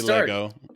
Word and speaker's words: Ligo: I'm pronounced your last name right, correct? That's Lego, right?